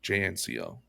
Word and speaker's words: JNCO: Yes, JNCO. It's like Jean Company. JNCO.